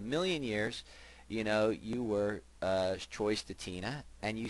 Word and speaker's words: Stetina: The story is always Stetina, the way when I grew up and the way it was pronounced.